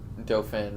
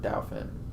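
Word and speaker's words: Dauphin: in uh delphi county in dofin or dowfin however you want to say it uh i think that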